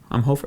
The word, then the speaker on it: Umhofer: of ours Todd umhofer umhofer is how you pronounce it sure umhofer sure who